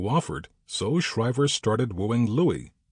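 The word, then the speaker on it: Louis: So Shrivever started wooing Louie L O U I S pronounced Louie E Martin with the aim of persuading him to join the team.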